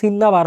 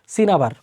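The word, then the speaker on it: cinnabar: একটা মিস্টেক হয়ে গেছে সিন্না ডাবল এন দেখে মনে করছে মনেয় সিন্নাবার হবে এটার স্পেলিং প্রনান্সিয়েশন হচ্ছে আসলে সিনাবার এই সিনাবার যেটা মারকিউরিক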